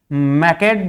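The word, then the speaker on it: Macleod: मैक्योड को मैकेड भी लिखा जाता है प्यारे बच्चों, कई जगह इसको प्रोनाउंसिएट कैसे किया जाता है? मैक्ड।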